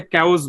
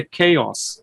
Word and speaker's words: chaos: একটু দেখেন, কবিতার নাম হচ্ছে দা, আমরা এটাকে ক্যাওস বলি, তাই না? এর উচ্চারণ হবে হচ্ছে খেয়স।